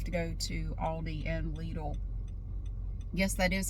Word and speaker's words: Lidl: And then I'm going home to do the peacock wreath, but first I have to go to Aldi and Lidl. Yes, that is how it's pronounced in the USA.